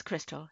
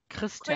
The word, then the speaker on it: Christel: It's Christel. Yeah. Christel.